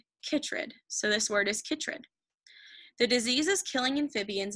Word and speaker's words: chytrid: So if you guys didn't know, these help us pronounce it. So I looked at this, it looked like chytrid. So this word is chytrid.